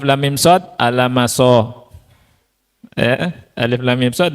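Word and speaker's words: المص: Alif lam mim shad dibaca alam mas. Nah itu ngawur itu ya.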